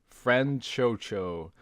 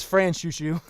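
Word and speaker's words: Franchouchou: all zombie idol group friend Cho Cho I have pronounced literally everything wrong yeah it's France Shu Shu so so Zombieland so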